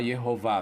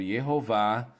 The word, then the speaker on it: Jeová: Babilônia então é óbvio que o nome era pronunciado lá Jeová também e esse manuscrito é cópia de textos